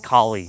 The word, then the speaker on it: Kali: was easy to say Kali. So, yeah. And it's close to Cali, like California.